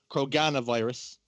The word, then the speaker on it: Kroganavirus: I have to pronounce the A. I was corrected by Krogan on Twitter. Kroganavirus.